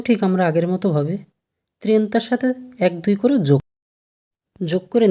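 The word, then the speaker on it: trenta: ত্রেন্তা। এখানেও ঠিক আমরা আগের মতো ভাবে ত্রেন্তার সাথে 1-2 করে যোগ করে নিজেরাই পারবো আমরা ঠিকমতো তৈরি করতে।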